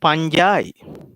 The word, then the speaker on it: fungi: fungi or no matter you can pronounce this as fungi my professor so i learned from him in sri lanka okay he pronounced this as punjai no matter so this is fungi fungi or fungi it's okay bacteria fungi next